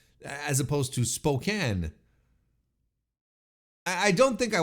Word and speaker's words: Spokane: I apologize Spokan but I always thought it was Spokane and doesn't that make more sense to to to pronounce it that way I mean if you look at the word SP o k NE e like your first instinct is to call it Spokane right it's as opposed